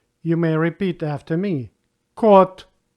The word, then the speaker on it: кот: Letter O in the words with one syllable always pronounced like O. You may repeat after me. Кот, кот.